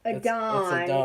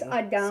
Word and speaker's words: Aiden: That's or not how you Korean pronounce girl. his name, by the way. Adon. It's Adon. So, and let's see who else.